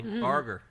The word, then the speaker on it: Barger: Barger.